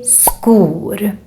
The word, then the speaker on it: skor: Because in Swedish, when we have SK together with a back vowel, like we have here, the O is a back vowel, then it becomes a K sound. So that's why we say skor.